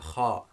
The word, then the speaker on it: kha: Then we have kha. Kha. This is the equivalent of the ch in the Scottish dialect. So for example, where they say loch, that ch sound is this ch.